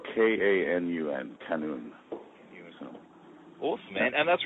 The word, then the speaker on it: qanun: I'll probably it's spelled K-A-N-U-N, qanun.